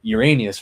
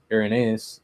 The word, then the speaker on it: Irenaeus: like and then she was like, "No, uh, Uranus or some, you know, whatever, however she pronounced it." Um, so I was like confused. I was like, "Oh, okay. Urenaeus."